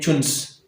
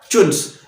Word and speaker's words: CHONS: आप ये इस तरह भी प्रोनाउंस करते हैं, चुन्स। किस तरह? चुन्स। तो जब आपको कोल का कंपोजिशन पढ़ना है तो आप सिंपली चुन्स याद रखिए।